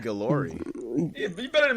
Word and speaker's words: Guillory: I said Guillory.